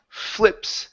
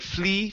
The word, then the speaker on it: flips: okay let's go to Flips short I sound so instead of fle flips I fli flips flips good it flips over